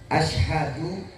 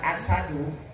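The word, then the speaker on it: أشهد: Asyhadu dengan asadu itu artinya sangat jauh berbeda. Kalau asyhadu, saya bersaksi. Tapi asadu, singa sebutannya. Tuh, beda tuh Pak.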